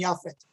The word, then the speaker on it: Japheth: children shem ham and japheth i hope i'm pronouncing it correct in the hebrew it's shem kham and yafit and it's believed that